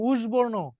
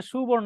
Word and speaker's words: সুবর্ণ: সুবর্ণ, সু, আমরা কিন্তু বলতেছি না উষবর্ণ, উষবর্ণ কিন্তু বলতেছি না, সুবর্ণ। আগে দন্তাস্বর উচ্চারণ, তারপরে রস্যুকারের উচ্চারণ, সুবর্ণ।